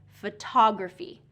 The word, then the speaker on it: photography: So photography, photography, a lot of my students will say photography, photography instead of photography. So second syllable stress.